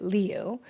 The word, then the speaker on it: Liu: I listened to a lot of of correct and ways of pronouncing it. Leu.